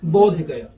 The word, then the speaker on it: बोध गया: यहां से बुद्ध गया, बुद्ध गया से उच्चारण क्या हो गया? बोध गया।